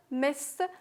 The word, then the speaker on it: missed: Lived, died, colonized, missed, suffered, employed, and joined. Missed. We have double S. It's pronounced T.